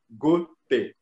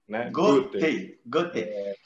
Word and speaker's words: Goethe: muitas vezes diz quando na verdade a pronúncia em alemão ela lembra a a pronúncia da palavra gota da água então não é difícil também não é muito desafiador para o brasileiro pronunciar o nome cerca Goten Goten OK agora